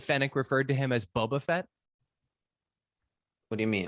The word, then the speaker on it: Boba Fett: Like, I just mean she really put the emphasis on that first syllable in the way that we've often mocked, like the way they, like when they say Boba Fett, Boba Fett. For some reason, it gets said that way sometimes, and it always stands